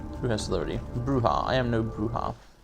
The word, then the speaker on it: Brujah: brujah i am no bruha would you believe they literally pronounced like that like b-r-u-g-a-h okay and it's pronounced brujah very clever the rowdy vampires are